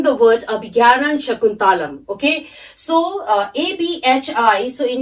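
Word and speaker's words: Abhijñānaśākuntalam: a little bit difficult in pronouncing the word Abhigyanan Shakuntalam. Okay, so A-B-H-I, so in your textbook, J N-A-N-A. So you have to pronounce J-N-A-N-A-S, Gyana. So Abhigyanan Shakuntalam.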